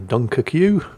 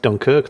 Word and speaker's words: Dunkerque: suppose you could say the Dunkerque, because yes, that is how you pronounce it. If you want it pronounced Dunkirk, then you shouldn't spell it Dunkerque, should you, France?